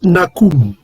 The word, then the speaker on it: Nahum: Donc vous avez la prononciation ici, la prononciation de son nom. On va augmenter un peu ici. C'est Nakum.